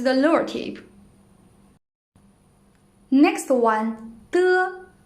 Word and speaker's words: de: De is an unaspirated voiceless alveolar plosive. When we pronounce it, the tip of the tongue and the upper alveolar ridge form a closure. Non-air is compressed behind this closure, then escapes. It sounds like de of dirty.